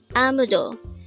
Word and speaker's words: 아무도: AMUDO. This is pronounced as a three-syllable word. The first syllable is a, the second syllable is mu, and third syllable is do.